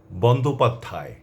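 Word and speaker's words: বন্দ্যোপাধ্যায়: এই যে শব্দগুলো শুনলেন এগুলোর প্রথমে যে অ আছে সেটি অ এর মতই থেকে যাবে এবং আপনারা হয়তো লক্ষ্য করেছেন সেটি অ হিসেবেই আমি উচ্চারণ করেছি শব্দগুলো আমি আবারও বলছি বন্ধা মর্ত অর্ঘ বন্দোপাধ্যায় চট্টোপাধ্যায় কন্ঠ বদ্ধভূমি অন্ত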